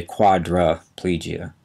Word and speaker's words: quadriplegia: e g i a we often pronounce it as if that I is an a we say Quadra plegia but it's spelled quadria